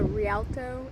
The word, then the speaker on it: Rialto: We have made it to Rialto, is how I think it's pronounced, beach.